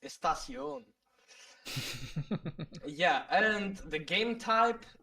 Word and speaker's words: Estación: It's not a pistachio. It's Estación.